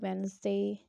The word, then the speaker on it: Wednesday: Like you can see in the example silent D, we do not pronounce the letter D, Wednesday, handsome, handkerchief, badge, wedge, and silent G, sign,